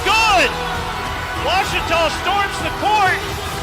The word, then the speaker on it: Ouachita: runs in the family I've heard people say oh a cheetah oh Wichita oh a cheetah is it pronounced oh Akita searching for Washington Baptist University back in Texas everybody pronounces it Wichita but really it's Ouachita Washington how would you pronounce it Ouachita it's Ouachita Baptist University get it right it's watch us all